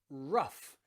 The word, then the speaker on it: rough: end of a word think of words like rough rough and cough cough okay rough and cough finish in gh but they have that the letter f they finish in a sound cough as in cough